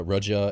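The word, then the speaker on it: Rodion: Yeah, it's it's I I don't really I've heard it pronounced a lot of different ways. Uh Roia and Rodian. I just say Rodian.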